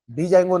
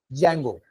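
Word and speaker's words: Django: pronounce कैसा करा हां डी जंगो नहीं जंगो डी साइलेंटस्तो डी मोटा है पर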